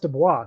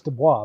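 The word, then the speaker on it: DuBose: no that's that's how it's spelled but it's pronounced Dubois so I don't know I don't get that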